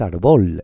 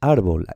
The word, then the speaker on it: árbol: sílaba y aquí también, árbol, no es árbol, es árbol, esta también es llana.